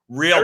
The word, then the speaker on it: realtor: And I try to say the word realtor. Everyone out there, REALTOR, right? That's all there is in the spelling. You look it up frontwards, backwards, sideways. You find me the third syllable, and then you can say it.